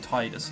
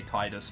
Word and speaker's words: Tidus: We find Tidus later on. Yes, I say Tidus, not Tidus. It doesn't really matter. The official pronunciation is Tidus, supposedly. I said it like Tidus, so we're working with that.